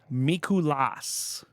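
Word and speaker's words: Mikulás: there um number six mikulas NBA Santa it is Santa M Miku the um empis is on the a at the end so I'm I'm pronouncing it Miku L um from Hungary if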